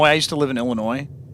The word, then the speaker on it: Illinois: Anybody who's from out of state says Illinois, which is very funny to me cuz even even me as somebody who didn't live there before, I never pronounced the S.